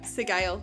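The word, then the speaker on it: Sgaeyl: We also learned that Zaden's dragon, who I think we will pronounce the Gail. Yeah, Sigail. That's it.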